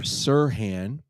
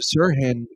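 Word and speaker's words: Serhan: um the doctor who discovered this was Dr Sirhan and that's spelled s-e-r-h-a-n from Harvard Medical and he basically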